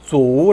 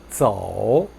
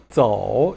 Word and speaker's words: 走: Z-O-U로 되어 있으니까 O 발음을 그대로 해서 走 라고 하는데 틀린 발음이에요. 走 라고 하지 마시고 Z-O-U 연결해서 走, 走 이렇게 연습하시기 바랍니다.